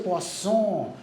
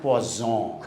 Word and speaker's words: poisson: She said, you pronounced it wrong. You said poisson. He says, you won't have poison. You should say poisson, not poison.